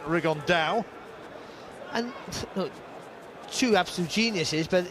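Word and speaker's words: Rigondeaux: he's talked about fighting rig on though or as he's correctly pronounced with the uh spanish accent rig on dao and two absolute geniuses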